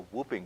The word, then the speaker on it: whooping: Dakota here in the whooping crane, if I'm saying that right. Yeah. Well, and you can't say it wrong. You can say whooping, you can say hooping, you could say just a huge, beautiful, magnificent white bird.